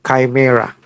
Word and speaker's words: chimera: CI chimera in spelling. No k chime. But you call that is you pronounce it chimera.